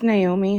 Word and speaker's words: Naomi: to go live hey no me am I pronouncing your name correctly it's Naomi hi Naomi okay Naomi